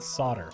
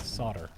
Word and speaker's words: solder: El so Soul dire I've always pronounced it it pronounced it solder yeah a soldering iron like the L is silent solder but I I I